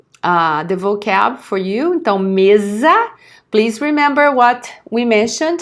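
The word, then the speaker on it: mesa: vocab for you Tom Meza please remember what we mentioned the s between two vowels is always pronounced as okay no Meza khadiyah no livro cast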